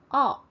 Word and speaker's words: of: Now f in all cases, almost all the cases, is pronounced as f. Only when it's in the word only when it's in the word of, it's pronounced as v.